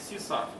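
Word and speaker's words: CSRF: і найбільше мені подобається срф читається як csarf катання на морській хвилі або Session riding Чому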